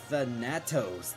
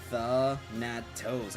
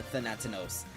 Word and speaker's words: Thanatos: It's supposed to be pronounced Thanatos. There's no second N. It's just Thanatos. I don't know why I'm going for Thanatinos.